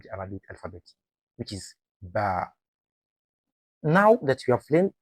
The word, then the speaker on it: ب: It is always a light letter. In Tajweed, we describe it as Morocco, meaning it should be pronounced with a light and gentle sound. So whenever you say ba, keep your mouth relaxed. Don't force the sound or make it heavy.